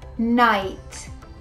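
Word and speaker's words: knight: today we're gonna see nine words in which the k sound is not pronounced so let's see number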